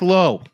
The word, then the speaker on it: Lowe: Or Brandon Low. L O W E. That's low. Okay, let's ask how to pronounce Brandon Low. L AU rhymes with now or plow.